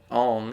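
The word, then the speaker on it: Ingres: The concept behind this painting by uh Ang is pronounced I N G R S.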